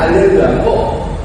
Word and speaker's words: 알렐루야: 알렐루야이 차이가 있는 거야 할렐루야 알렐루야은 똑같은데 하나는 부여고 하나는 뭐다 라틴어다 라틴어는 h 발음이 안 나온다 시라고 상 그래서 그